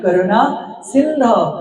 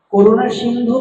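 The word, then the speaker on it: করুণাসিন্ধো: অনেকেই বলে হে কৃষ্ণ করুণা সিন্ধু, দীনবন্ধু, পুরো ভুল। ব্যাকরণে পুরো ভুল। করুণা সিন্ধু নয়, করুণা সিন্ধা। দীনবন্ধু নয়, দীনবন্ধা। মনে থাকবে?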